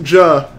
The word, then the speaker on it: Ja: It's pronounced Ja, as in Elijah.